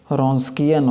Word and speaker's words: Wronskian: note करेंगे find the रस्किन ऑफ डब्लू यहां पर साइलेंट है ओके सो यहां पर